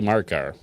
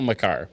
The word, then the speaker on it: Makar: Colorado is Kelly Markar. Cal Makar. Never pronounce his name either.